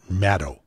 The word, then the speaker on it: Maddow: it's from Rachel Maddow that's mad oh not Maddow shadow not mad cow' Maddow almost nobody who interviews her or has her on their shows or introduces her pronounces her name correctly but I think I've got it Maddow like shadow okay so bagman is